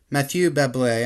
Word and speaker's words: Mathieu Bablet: So, first things first, Mathieu Bablet, I'm sure you can hear the pronunciation there.